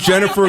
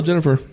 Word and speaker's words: Ginnifer: That is Jennifer Goodwin. But it's spelled Ginnifer. Yeah, but still Jennifer.